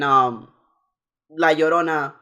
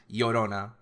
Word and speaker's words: Llorona: And La Llorona, pronounce yo like yo-yo, right? Yeah. Double L, so it's the Y sound in English, Llorona.